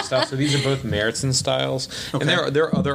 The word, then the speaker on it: Märzen: It's not Marzen? No, it's Märzen.